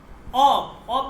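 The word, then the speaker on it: آب: যেমন অব মানে কি? পানি। আমরা আমাদের এই অঞ্চ এটাকে আব বলে। ঠিক আছে? ফারসিতে এটাকে আব মানে পানি বুঝায়। কিন্তু শুদ্ধ উচ্চারণ হচ্ছে। অ মানে হচ্ছে পানি।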